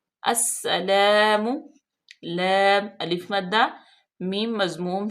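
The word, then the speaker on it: السلام: अब देखें अलिफ लाम जो है वो साइलेंट होगी, सीन में डायरेक्ट हम हमजा को मिलाएंगे और सीन मुशद्दद है, सख्ती से पढ़ा जाएगा और इस पे सीटी की आवाज पैदा करेंगे।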